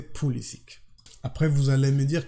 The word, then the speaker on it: Pulisic: Et oui, on dit Pulisic parce que lui, vu qu'il a grandi en Amérique, aux États-Unis, il a toujours prononcé Pulisic.